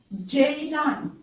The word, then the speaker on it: Ceylan: C'est pas le C comme en français, c'est le J. J. Comme exemple, il y a Ceylan, qui veut dire la gazelle.